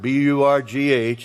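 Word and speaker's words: burgh: Under the word burg, B-U-R-G-H, it's pronounced burg.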